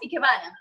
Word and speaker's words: Ikebana: you or made you take this art of Ikebana? Is that how you pronounce it? Yes, Ikebana.